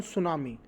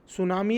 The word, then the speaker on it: सुनामी: That was based on सुनामी। सुनामी एक chapter है और इसमें जो टी होता है, टी ये साइलेंट होता है।